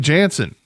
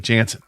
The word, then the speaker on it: Jansen: Kenley Jensen has been Kenley Jansen.